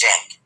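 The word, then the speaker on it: Cenk: And then the guys at TYT, Jank especially, C-E-N-K is how you spell his name, but it's pronounced Jank.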